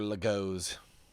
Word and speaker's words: Lego: Actually, it's pronounced Lego, if you mean plural.